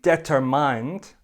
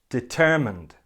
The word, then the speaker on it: determined: the project don't say debtor mind say determined determined he is determined to